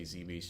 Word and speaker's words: Zebes: You ever heard people It's Zebes, right? That's the official pronunciation, but I hear people say Zebes just like they say Samoson.